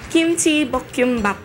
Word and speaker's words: Kimchi Bokkeumbap: Chef, pakipronounce mo yung ating recipe for today. Oh. Kimchi Bokkeumbap.